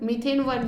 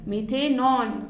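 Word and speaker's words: methanone: Okay, मीथेन plus वन, मीथेन वन नहीं, मीथेनॉन. Okay, so this will be pronounced as ऑन.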